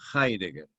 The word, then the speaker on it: Heidegger: escribe con H-E-I-D-G con doble G, y se pronuncia Heidegger. Martin Heidegger, en una obra que se llama en alemán Sein und Zeit, o sea, ser.